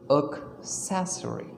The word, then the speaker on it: accessory: is not stressed we are stressing the soul sound the first cell sound accessory accessory there is no stress on a right and the next thing is that a in the spelling is not pronounced as a it is pronounced as o accessory accessory so improve